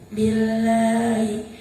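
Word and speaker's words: بِاللهِ: Artinya Apabila dalam jalalah didahului huruf yang berharokat kasroh, maka cara bacanya tipis. Contoh, billahi.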